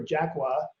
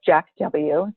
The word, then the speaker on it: JAK W: of the store is jack w so it's jack without a c and the name jack